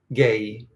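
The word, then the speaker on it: جاي: Gay. Gay. Gay. Gay. Good. And you're pronouncing the two Y's very well.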